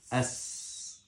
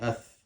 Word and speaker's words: س: Seen, for example. As. Your teeth close and as. Huh? Some people, they pronounce it different way. Ath. That's not right.